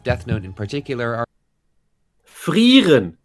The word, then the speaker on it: Frieren: I was just about to say, it sounds amazing if you say Frieren. I'm watching It's Frieren. like the opposite. She's not frying anyone.